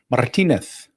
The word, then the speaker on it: Martinez: They pronounce their Z's with the th. They very lispy sounding. So we would say Paul Martinez.